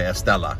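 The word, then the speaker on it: Esthela: You don't pronounce the H. Okay, Estela. Okay, because I heard some people say Estela. It's Estela.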